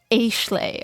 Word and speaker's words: Ashle: give of a okay I know it's Ashley but it's spelled as ashle okay so we're calling her ashle H slay a valley